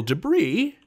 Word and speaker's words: debris: Debris is a noun.